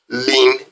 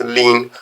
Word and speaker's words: ln: simply write Ln y this Ln Y is pronounced as Lan y so we pronounce this as Lan y now if I